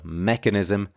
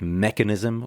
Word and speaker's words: mechanism: The other one was with mechanism. This one should be stressed on the first syllable, mechanism. These can be tricky because, for example, with mechanical, we stress the second syllable, but with mechanism, we stress the first.